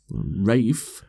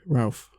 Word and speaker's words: Ralph: The only reason I know it's pronounced Rafe is because Amy adores him.